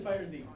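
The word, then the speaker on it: FighterZ: The Xenoverse 2 and Fighter Z. Okay. Which is pronounced Fighters.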